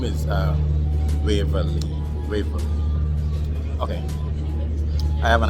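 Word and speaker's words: Waverley: The name is Waverly. Waverly. Okay. I have an accent.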